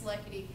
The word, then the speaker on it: Likety: If you're wondering how to say it, that's how you say it. It's Likety. If you want to say like Diddy, you can say that too, or Likety.